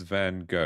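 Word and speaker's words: Van Gogh: you pronounce the name so for Americans it's van go it's is what I've learned right like every every language pronounces it differently that's that's interesting thing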